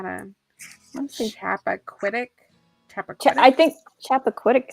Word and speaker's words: Chappaquiddick: I think Chappaquiddick sounds about right. That's the name of her very first podcast episode. Yeah. Is referring to that. Yeah, I would say Chappaquiddick, but something close to that.